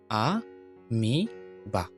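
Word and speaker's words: amoeba: পরের উদাহরণটা হচ্ছে আ মি বা, আমিবা, আমিবা। অর্থাৎ এখানে এম এর পরে ও ই, তাহলে ও ই থাকলে দীর্ঘ ই হবে। এজন্য এটার উচ্চারণ হবে আ মিবা, আমিবা, আমিবা, আমিবা।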